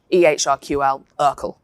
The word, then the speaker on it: ehrQL: And the language is electronic healthcare record query language ehrql to to rhyme with circle and what you do as a researcher is you write this code and it looks very much like Python.